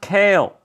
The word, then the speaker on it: Kailh: nice chinese company kale it's pronounced kale people stop seeing whatever you say cause you say it wrong and i hear it i'm like what it's kale thanks for watching the